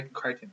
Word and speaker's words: Crichton: that made me remember Michael Crichton the rhymes with frightened yeah so yeah you